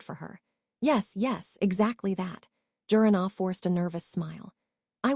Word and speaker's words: Jiranaa: It's Jurana, the secretary corrected. Oh, got it, Jurana.